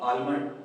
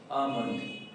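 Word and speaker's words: almond: इसे हम अगर एल के साथ पढ़े तो आलमंड गलत। इसे हम क्या पढ़ेंगे? अ मंथ अ मंथ अ मंथ एल जो यहां पर साइलेंट होगा।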